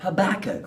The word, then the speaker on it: Habakkuk: Habakkuk, whose name rhymes with cook. Cook, Habakkuk. Right, that's good, okay.